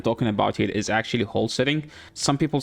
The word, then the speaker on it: Holsring: Uh the champion I'm talking about here is actually wholesing. Some people say holing. I feel like there is an S. It's right there. So it's supposed to be pronounced. So it's whole setting.